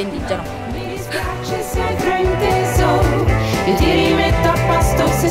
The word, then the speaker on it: Indiegeno: È scritto Indigeno, si legge Indigeno.